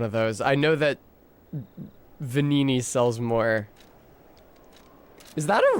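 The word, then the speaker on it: Venigni: because it's spelled like, isn't the GN in Italian like a nya? Like a nya? So it would be like Vanini, but that doesn't work in like the phonology of Indo-European languages in general usually.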